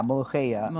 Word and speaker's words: molokhia: And you said that recipe was inspired by molokhia. Is that how you say it? Yeah, molokhia.